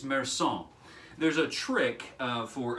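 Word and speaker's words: Meursault: the main character's name is uh merson now it's spelled an american tongue wants to say marsalt or mersalt um but uh the the french is just so much more gentle than than english you know and so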